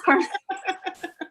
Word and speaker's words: Carmen: So, it's just another sort of Spanish name with the hard C in the beginning. That's why her name is Carmen.